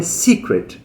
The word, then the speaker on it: secret: É porque aquela parte, aquela sílaba ali é a sílaba forte. A gente chama de stressed syllable. é a sílaba forte, então é secret, tá vendo? Puxa para cima no começo, ó.